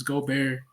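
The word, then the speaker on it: Gobert: it one time it's it's go bear not Gober my fault sir but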